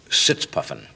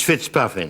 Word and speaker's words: Fitzpuffing: Um British agent Leslie sits puffing. Actually, it's it's Fitzpuffing.